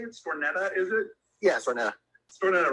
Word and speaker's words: Stornetta: Yeah, Stornetta.